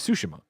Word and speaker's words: Tsushima: It's like now where it's like when Blessing mispronounces Tsushima. I get all. What does he say? He says Tsushima still. Oh, really? Yeah. It's always the emphasis on the first syllable.